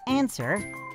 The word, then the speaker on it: answer: it thumb climb the last silent letter we will look at today is the silent w like in answer and rap again these words are tricky they don't follow the rules because we do not pronounce the w sound in either word these